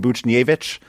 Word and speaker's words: Buchnevich: I have pronounced the H in Buchnevich for the first time,